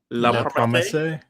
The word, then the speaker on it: La Promesse: La Promesse.